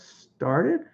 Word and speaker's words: started: How do you pronounce started? Started. Good question, Brandon. Started. It's not American English. I'm going to make that second T a D pronunciation if you hear it.